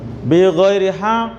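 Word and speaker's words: بِغَيْرِ حَقٍّ: Bi ghairi haq, bacanya ditahan Pak kalau berhenti ya. Bi ghairi haq, 2 ketuk baru muncul qalqalah. Ini bukan qalqalah kubro apalagi sugro, tapi qalqalah akbar namanya.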